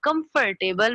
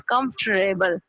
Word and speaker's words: comfortable: was comfortable i mean i also used to say comfortable comfortable and then i realized it's not comfortable but it's comfortable so this was amazing